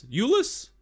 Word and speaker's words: Julius: Come to talk to Julius? Because I is pronounced like a Y.